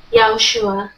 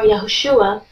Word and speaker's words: Yahushua: the correct form is yahushua or yahushua the pronunciation doesn't matter as long as yah is in there so Yeshua is also